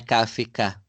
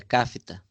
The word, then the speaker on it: Kafta: forma de falar viu a pronúncia não é cá fica é Kafta Kafta mas é de frango